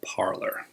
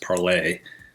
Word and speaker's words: Parler: expression and Trust parlor originally was meant to be named for the French word to speak but it's not pronounced parlay it was founded in